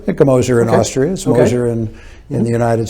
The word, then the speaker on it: Gmoser: know i have a my name is spelled with a g it's g-m-o-s-e-r the g is silenced old austrian name and